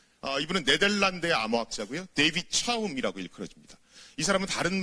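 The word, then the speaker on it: David Chaum: 1988 년에 왔습니다 2분은 네덜란드어 아무 합자 구요 데이 빛이 싸움 이라고 읽어야 됩니다 이사람 다른 말로는 프라이버시의 아버지 라고도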